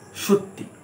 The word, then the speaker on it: সত্যি: সেক্ষেত্রে বানানটা বা উচ্চারণটাকে ভাঙলে এই রকম আসে, তালে বসায় রোকার খণ্ডেরটা তয় হচ্ছে, কিন্তু লিখবার সময় বা অ্যাকচুয়াল যে বানানটা সেটা হচ্ছে দন্তেস্ব তৈজফলা হস্যি সত্যি।